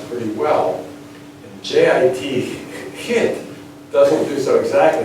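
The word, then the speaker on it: jit: And J-I-T, hit, doesn't do so exactly, because the J sounds like the German or Hebrew CH, right?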